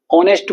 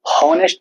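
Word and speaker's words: honest: ऐसे ही ऑनेस्ट को हम हॉनेस्ट तो नहीं बोलते, एच तो नहीं बोलते, तो एच में एच साइलेंट होता है, ऑनेस्ट बोलते हैं।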